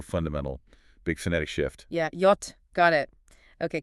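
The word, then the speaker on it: Jot: And then we hit J, pronounced yot. Yacht. Now that's the big one. Really sets German apart again, doesn't it? It really does. That yacht sound. It's just like our English. Why in yes.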